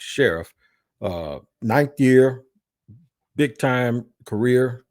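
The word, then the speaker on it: Scherff: I thought it was Sheriff, but it's not. It's Sheriff.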